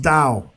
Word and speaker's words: DAO: the decentralized autonomous organization or a dao pronounced dao and it's no relation